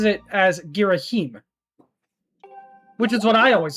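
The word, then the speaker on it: Ghirahim: was actually some contention as to how to pronounce his name. Some people insisted it was Giraim for some reason, while Hyrule Warriors actually has voice duration and directly pronounces it as Giraheim, which is what I always assumed it was personally.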